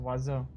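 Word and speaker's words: oiseau: fair french is easy waso bird is pronounced wazzo it's logical yeah yeah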